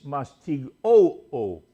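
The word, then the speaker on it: μαστιγόω: The Greek word is mastigoo. Did you catch that? Mastigoo. O. Accent is on the first O.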